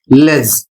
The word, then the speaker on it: ledge: अगला शब्द है LEDGE, इसे पढ़ा जाता है लेज।